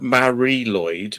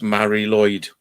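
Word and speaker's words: Mari Lwyd: G to get a l call yeah we pronounced it Mari Lloyd but it's it's written down as Mary ludd lud yeah but it's Mari Lloyd we used to call it yeah wow that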